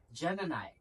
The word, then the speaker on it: GEM&I: Y it is spelled as G M then the symbol N and then the pronoun I but the pronunciation is Gemini.